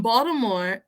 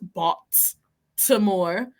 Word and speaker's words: Baltimore: Y even la manera de pronunciar el nombre de la ciudad, no es Baltimore, aunque contiene la T, suena como una D, Baltimore, like, you know.